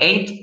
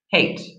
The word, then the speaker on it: hate: And for anybody that needs pronunciation on hate, okay, don't forget, not I ate, I hate, okay?